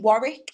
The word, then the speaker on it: Warwick: and tell their friends they knew how to pronounce it. But trying to teach them Warwick as well was a fun one.